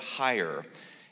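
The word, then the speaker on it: Heyer: them by I think his name is Walt higher and the name is spelled H ey er for those of you that wanted to know that so a Walt higher H ey ER and this one was published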